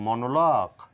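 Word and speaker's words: monologue: লিখ তদ্রুপ ডায়লগও নয় বলবো ডায়লগ মনোলগুনা বলবো মনোলক guide guest next silent letter V কাব্যিক ভাষায় কবিতায় অনেক সময়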